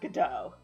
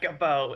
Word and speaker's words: Godot: I mean, to be fair, that does make it clear that his name is pronounced Godot. Yeah. Gabo. It's not Gabo, it's Godot, Your Honor.